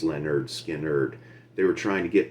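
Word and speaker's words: Lynyrd Skynyrd: the title of the album pronounced lenerd skin nerd they were trying to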